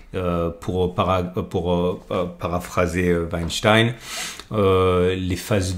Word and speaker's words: Weinstein: sur les travaux de Stan Weinstein ou Weinstein si vous voulez le prononcer à l'américaine ou à l'allemande et l'idée c'est que